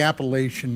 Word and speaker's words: Appalachian: And I've heard different pronunciations. I've always called it the Appalachian Mountains. uh and from PA that's how we referred to it.